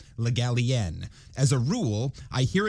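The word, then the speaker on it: Le Gallienne: told the literary digest the stress was on the last syllable legalien as a rule i hear it pronounced as if it were spelled galleon which of course is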